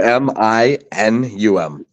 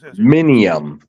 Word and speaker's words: aluminum: n u m Al it's just saying it slower Crow doesn't make it right what Alo okay minium it's minum no I get what you're saying though Crow there's no I after the N exactly I get it